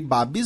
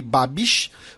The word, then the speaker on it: Babiš: Vocês podem notar que eu não pronunciei Andrej Babis, eu pronunciei Andrej Babiš, porque alguns dos nossos ouvintes que moram na Tchequia fizeram essa observação.